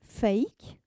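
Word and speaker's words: PHEIC: en anglais ça s'appelle fake voilà prononcer fake comme faux mais qui s'écrit phic et qui veut dire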